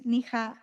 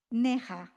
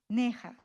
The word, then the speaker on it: Neha: And then now I I want to introduce Niha. I pronounce okay your name. Neha. Neha.